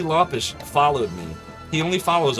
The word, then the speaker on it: Lopes: his name is pronounced Lish I think it's pronounced T Lish it's not actually Lopez that's a misnomer but it's yeah what